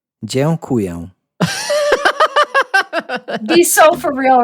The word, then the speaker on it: dziękuję: It starts with dziękuję. Dziękuję. That's Yes.